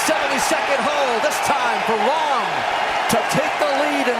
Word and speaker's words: Rahm: Is it Rahm? It's pronounced R-A-H-M, Rahm.